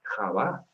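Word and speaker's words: חוה: Y la pronunciación en hebreo es Javá, no Eva.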